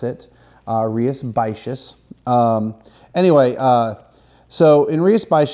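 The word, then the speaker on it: Rías Baixas: a festival Andrea spacious and that's how you pronounce it rias basis anyway so in Rio spice just this is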